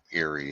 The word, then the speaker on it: Erie: based on the name, Eerie is is is the most amusing. Even though it's spelled differently, it's not spelled like Yuri, but it sounds like it.